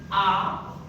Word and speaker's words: Apfel: क्योंकि जो A का साउंड था वो आ था।